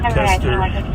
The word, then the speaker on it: Koester: I'm not even sure how to pronounce Matthew's last name. Koester or Kester. Matthew Kester, and it's Koester.